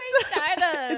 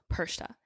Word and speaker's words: Perchta: It's not Perchata. Is it even spelled like that? Hold on. How do you spell that? Perchata. Perchta. Oh, it is I said Perchta. It's Perchata in my heart. No, it's Perchta.